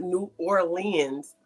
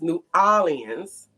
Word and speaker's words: New Orleans: He said it was not New Orleans, it was New Orleans and that I was saying it wrong and he was showing